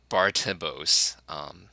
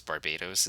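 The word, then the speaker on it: Barbatos: So the English is, may you be struck down in the name of Lord Bartibos, which is wrong because I think it's Barbados is the correct pronunciation, but they carried this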